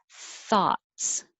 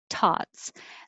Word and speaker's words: thoughts: vowel is ah thoughts and the difference between 32 and 35 taught is the t in the th so if you're trying to say thoughts what are your thoughts but it sounds like a t tots that means your tongue is behind your teeth when it should be further forward and you need airflow thoughts and 33 and 34